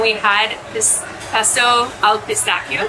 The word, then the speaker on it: pistacchio: It is pesto al pistacchio, or like the Americans say, pistachio. Pistacchio.